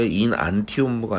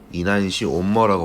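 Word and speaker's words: enantiomer: 발음 자체가 인안티온모가 아니라요. 이난시온모라고 발음하시면 됩니다.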